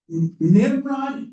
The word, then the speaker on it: Nimrod: If somebody wants to look up, when did Nimrod become bad? Did you find it? Did you already look it up? Well, it has a long O sound on the Hebrew, but not the English, Nimrod?